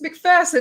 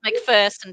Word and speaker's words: McPherson: It's McPherson, isn't it? McPherson. You're an Aussie. It's McPherson, T. Yeah. all the Americans say McPherson. I swear they do. But maybe it's their accent.